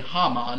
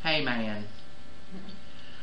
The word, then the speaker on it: Haman: esther you know it the haman haman however you want to pronounce it it's probably haman in their language but we would say in our very beautiful southern dialect hey man so one of the